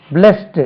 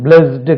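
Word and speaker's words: blessed: இ எஸ் எஸ் இடி பிளஸ்டு இது இட் என்று உச்சரிக்கணும் பிளஸ்டு கிடையாது பிளஸ் பிளஸ்ட் பிளஸ்ட் இதுவும் பிளஸ் தான் பிளஸ்சிங்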